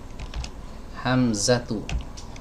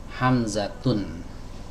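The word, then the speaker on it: حمزة: Contohnya kata Hamzah. Hamzah pakai H ya. Pakai H kecil ya. Hamzatu. Nggak boleh kita bilang Hamzatun meskipun dia laki-laki karena ada ta marbutohnya di akhirnya. Siapa lagi selain Hamzah?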